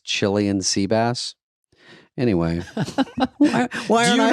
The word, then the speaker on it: Cillian: They say Killian, but the real name is Cillian Seabass.